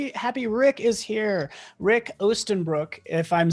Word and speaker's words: Oostenbroek: and i'm happy happy rick is here rick ostenbrook if i'm saying your name correctly can you just correctly like tell me how you say it's so much cooler dude you killed it uh rick ostenbruck which is translated into eastern pants in english